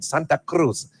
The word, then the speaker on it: Santa Cruz: Cruz you know yeah we give it the Spanish pronunciation Santa Cruz so here we are